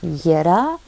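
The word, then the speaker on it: Jera: la rune des moissons qui s'appelle Yera j e r a donc ça s'écrit ja ça se prononce Yera donc je vais vous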